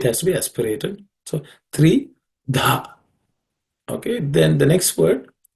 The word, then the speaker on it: Tridha: In the next word, Tridha, the second letter Dha is an aspirated consonant.